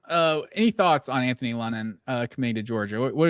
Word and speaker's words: London: Uh, Anthony or London. I'm We were debating on how to pronounce it before the show started. It's London.